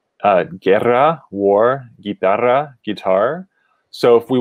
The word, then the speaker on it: guerra: as we see here usually the combination of letters g-u-e or g-u-i is pronounced like a hard g uh guerra war guitar so if